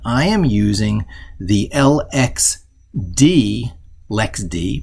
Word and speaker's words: LXD: this too often i am using the lxd lex d pronounced lex d container system it's like docker but allows you